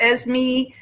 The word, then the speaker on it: Esme: Esmeralda, and short for Esme. And I'm good, whichever way you want to say it.